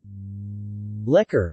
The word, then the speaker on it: lekor: liquor Malay pronunciation liquor keropok lekor Malay pronunciation croco liquor